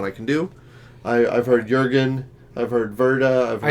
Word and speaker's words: Jürgen: I've heard Jürgen, I've heard Wrede, I've heard I think Wrede. it's Jürgen because of the... Probably. The accents, umlaut, yeah.